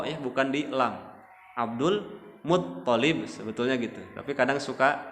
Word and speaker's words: Abdul Muttalib: Jadi nama-nama anak dari Abdul Muttalib, jadi tasdidnya di to, ya, bukan di lam. Abdul Muttalib sebetulnya gitu, tapi kadang suka kepleset.